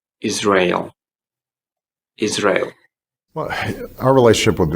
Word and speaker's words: Israel: Yeah, so don't say Israel or Israel because they're not correct. So we should be saying Israel.